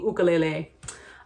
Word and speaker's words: ukulele: to bring out my ukulele or as it's pronounced the ukulele a fun fact about the ukulele is that